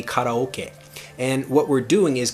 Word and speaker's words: karaoke: word karaoke before but if i say karaoke to japanese people they have no idea what I'm saying the correct pronunciation I can't even say the word pronunciation properly but the correct pronunciation of the word karaoke in Japanese would be kataoka and what we're doing